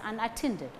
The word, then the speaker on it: unattended: They shouldn't have left their cases unattended. They shouldn't have left their cases unattended. Shouldn't, left, cases unattended. Unattended, stress falls on tended.